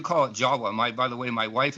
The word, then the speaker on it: Java: But actually that name in Dravida is spelled J-A-V-A in Dravida, but it's pronounced Jawa, just like you do.